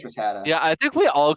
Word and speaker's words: Rattata: It's not Ratatata? Ratatata or something. I thought it's Ratatata. I think it's Rattata. Yeah, I think we all called it Rattata when we were kids. Rattata or something like that.